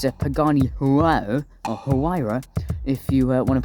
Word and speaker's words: Huayra: If you have a look at this, I believe it's a Pagani Huayra, or Huayra, if you want to pronounce it like someone who isn't Jeremy Clarkson.